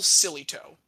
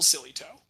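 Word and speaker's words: Sillitoe: and field coach by the name of Neville Sillytoe. That last name is spelled S-I-L-L-I-T-O-E, Neville Sillytoe.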